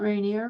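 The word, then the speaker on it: Rainier: so let me see I looked up Mount rineer which is how we pronounce it when you're from here by the way R there yeah I see it got it okay um Jane Krit said reneer we don't like that um so Mount rineer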